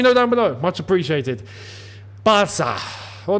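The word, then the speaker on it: Barça: down below much appreciated Bara well no no not Barca we're going to pronounce it like the Catan say Bara Bara yeah Barcelona what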